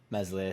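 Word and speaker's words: Meslier: phillips lorente click and messily silent s apparently all should be back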